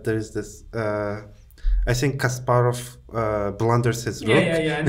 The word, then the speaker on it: Kasparov: known uh in English they say casprov so let's just for the sake of play so uh because we're from a similar part of the in a region say Kasparov but yeah casprov as Americans say casprov is also known as